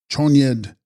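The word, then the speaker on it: Chönyi: Text, Chosnid, Kunta Bzangpo, pronounced Chonyed, Kuntuzangpo, Sanskrit Dharma Dhatu Samantabhadra, the embodiment of the Dharmakaya, the first state of Buddhahood.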